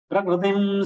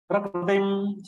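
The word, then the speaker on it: प्रकृतिम्: Many Hindi siders, North Indians, they are pronouncing kr as kri, prakriti. but that Kri is not a correct pronunciation. Whereas in Maharashtra it is pronounced as a Kru. So that Kru is also not correct. So what is correct? Kru. So without taking your lips ahead, if you pronounce it Prakru, then it will be a correct pronunciation.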